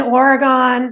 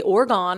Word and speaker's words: Oregon: and they'd be like, don't say Oregon. I'd be like, say organ, like an organ in your body? That's how you say it?